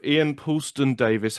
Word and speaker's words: Ian Puleston-Davies: My guest today is a super talented actor by the name of Ian Puleston-Davies. How are you, Ian? Even better. You pronounce it the right way.